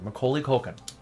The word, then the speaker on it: Macaulay Culkin: Macaulay Macaulay Culkin got to say it correctly Macaulay Culkin because people like when it comes to him